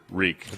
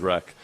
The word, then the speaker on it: wreak: It's actually there's two pronunciations for reek. One is wreck. You can say either. The spelling is the spelling is the same both times, right? It's WREAK, but you can say wreck havoc, and it's not.